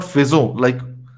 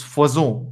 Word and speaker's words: faisons: you guys tell me now what is the pronunciation of this word? Faisons. Fazo. Right? It's not fezo, like we heard in that computerized voice. It's fazon because F O second symbol gives it away.